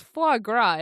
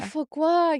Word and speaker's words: foie gras: Well, it's foie gras, isn't it? It is, yeah. Yeah. Oh, foie gras, yeah.